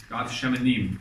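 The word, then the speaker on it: גת שמנים: Gat shemanim. That's how you say it.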